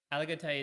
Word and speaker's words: Aligoté: How do you spell it? Petitmeslier. Oh, That's yeah. What about Burgundy. Alagote? Aligoté is in Burgundy.